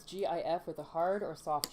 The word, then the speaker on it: GIF: blue one rumble do you pronounce do you pronounce g-i-f with a hard or soft g with a